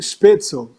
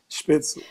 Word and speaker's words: Spätzle: a minha dica, espeto, escreve SPA com trema, acho que é TZEL. Eu Não, acho bonitinho porque. LE. O L antes do E. Spätzle.